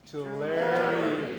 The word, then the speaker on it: Tulare: Tulare County.